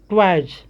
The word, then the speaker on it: toys: उसी प्रकार से TOYS, यहाँ भी वाई के बाद एस आया है तो क्या पढ़ेंगे, ट्वाइज।